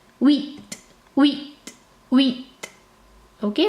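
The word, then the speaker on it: huit: a little difficult okay the H in French is silent okay you don't pronounce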